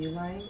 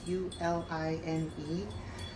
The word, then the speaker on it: Uline: all my boxes from uline it's u l i n e i'm assuming it's pronounced u-line could be unlined but i think it's u-line or a-line i don't know i call it u-line they are nine by nine by 12.